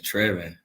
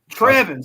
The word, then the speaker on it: Trevin: I'm doing good and you said Trevor is Trevor Trevin see I said it wrong my bad caught you